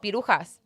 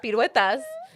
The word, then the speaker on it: piruetas: So I would always call them pirujas instead of piruetas.